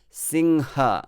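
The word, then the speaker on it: सिंह: anger in english so and this is ha and not gha or ga which will be slightly more bengali accented word it's not gha or ga it's ha okay so singha is a lion in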